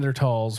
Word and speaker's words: Neanderthal: There would be That like, people there are would be resorting- Neanderthals watching these.